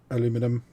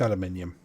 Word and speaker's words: aluminium: And yes, I do realise it says aluminum, but it's aluminium. Okay? I don't want to go to the argument about it. It's not because I'm not American or don't pronounce it like they do in America.